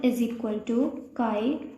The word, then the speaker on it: chi: is represented by this symbol, and it is pronounced as chi.